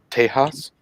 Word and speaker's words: Tejas: It's pronounced Tejas.